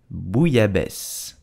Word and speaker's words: bouillabaisse: So how do you pronounce it correctly? You would say bouillabaisse.